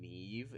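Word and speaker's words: Niamh: i found out that the name neve is spelled n-i-a-m-h that's the irish spelling of neve neve yeah with an mh yeah which is kind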